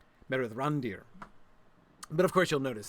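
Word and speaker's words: Mithrandir: The I of course I'm saying it's not Mithrand Mithrander. Yeah, of course that's somebody else. It's not meander. Um, the I is pronounced like E. Mithrand, Meer Randir, Meth Randir.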